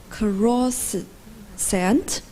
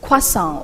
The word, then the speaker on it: croissant: pronounce this word please I guess is cross scent actually it's croissant or croissant so where might this